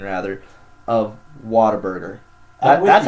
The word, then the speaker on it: Whataburger: Even though it's spelled W-H-A-T, say water. Yeah. Come on. It's Whataburger.